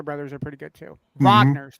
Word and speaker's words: Wagner: Yeah, the Yeah, the Wagner brothers are pretty good, too. Vagner, sorry. Vagner. I always say it wrong.